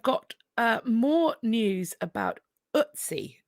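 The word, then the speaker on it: Ötzi: uh more news about utsi is it how I believe it's pronounced I apologize if I um incorrect about that but I believe it's it's otsi the Iceman they have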